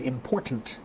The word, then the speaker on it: important: important I said important there's a t when you hear other people who don't have a T.